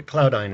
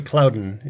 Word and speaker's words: Cloudant: may go I think I called the cloud ein it's actually Cloudant is the cloud many